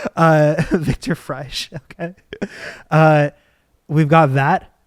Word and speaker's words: Frey: And after he interviewed her, he uh interviewed Mayor Fry, I believe it's pronounced. I've been saying Frey this whole time because I'm Game of Thrones pilled, but maybe that's wrong. Everyone else I've heard has said Fry and the sheriff of Minneapolis.